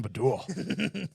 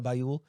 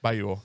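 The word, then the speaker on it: Baiul: I bagged Oksana Badul. That's a Bayul. wild stallion. Well, how do you say it? Oksana Bayul. Bayul. Thank you.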